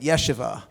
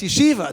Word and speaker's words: yeshiva: at the time and he said there were Jewish justices a Jewish judges on the court who didn't know how to pronounce the word yeshiva yeah and I kept calling it yeshivah yeah and he said it's you Shiva don't you know what's he Shiva you know you know